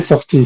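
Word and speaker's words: sortie: Je l'ai sorti, se pronuncia igual, solo que se escribe con E al final.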